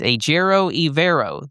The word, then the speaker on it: Ejiro Evero: It is, and I just lost where my pronunciation was at, so I just don't want to screw it up here. It is Ejiro Evero, the Panthers DC.